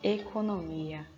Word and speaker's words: economia: Economia é uma palavra paroxítona, porque aqui a gente tem a presença de um hiato. O hiato é duas vogais juntas ali. Logo, a sílaba tônica é o mi.